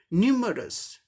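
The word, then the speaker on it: numerous: 3 syllables का है, तो फर्स्ट सिलेबल पर स्ट्रेस मार्क दिखाया गया है, फर्स्ट सिलेबल को जोर देते हुए बोलना है। न्यूमरस, न्यूमरस, न्यूमरस, न्यूमरस मतलब अनेक को, अनेक, विविध, न्यूमरस।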